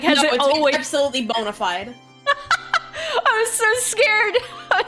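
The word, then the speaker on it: bona fide: you look like a bonafed a Frontline investigator now is that how you say that I thought it was Bonafide it's absolutely Bonafide but I have a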